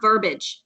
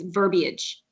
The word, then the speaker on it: verbiage: things and she's like it's not verbage its verbiage where's her Martha I